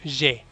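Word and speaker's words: j'ai: está agregado el AI, que si recuerdas, hablamos de algunos diptongos que en francés AI se pronuncia como E, una E abierta. Entonces ahí es je, abierto.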